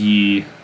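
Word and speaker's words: 이: And they actually pronounce that as Yi in Korean.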